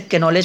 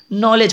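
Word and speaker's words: knowledge: के से start, KNOWLEDG, तो मैं इसे कैनोलेज पढ़ता था, बाद में पता चला अच्छा ये के जो है वो साइलेंट छिप जाता है, आई मीन हट जाता है, नॉलेज पढ़ा जाता है इसको।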